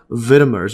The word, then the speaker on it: vitamer: Most vitamins are not single molecules, but groups of related molecules called vitamers or vitamers. See the pronunciation here.